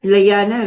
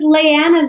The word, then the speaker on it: Liana: We pronounce it like Liana, right? Yes, correct. Leanna, like a Hawaiian lei, and then Wow.